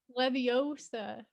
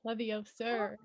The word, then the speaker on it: Leviosa: a spell that someone leviosa not levy of sir right i know like